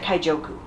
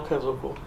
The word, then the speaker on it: Kaizoku: And this, did I pronounce the Kaizoku correct? Or is it Kaijoku? No, Kaizoku.